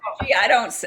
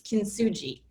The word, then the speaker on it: Kintsugi: Kinsuji, I can't pronounce that right. You know, Whatever. so when I recorded my audiobook, I went online and listened over and over to make sure I was going to pronounce it correctly. And it's Kintsugi that's what the internet told me repeatedly.